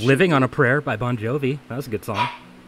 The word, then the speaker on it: Bon Jovi: Bon Jovi? Okay, I was getting his name wrong whenever I was saying it one time. What did you say? I Bon said- Jovi. I said John. John Bovey.